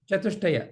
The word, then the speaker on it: Chatushtaya: How is it said? Chatushtaya, the four pillars of sadhana.